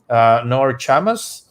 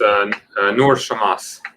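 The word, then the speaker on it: Nour Chamas: The attorney that is joining us today is the attorney Nor Chamas. Is that the correct pronunciation? It's Noor Shamas.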